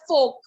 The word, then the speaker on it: fork: The R is silent in the word fork.